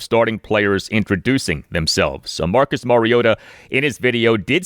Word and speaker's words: Mariota: We on NBC's telecast of the game heard play-by-play announcer Mike Trico and analyst Chris Collinssworth consistently say Marcus Mariota with the T pronounced like a T.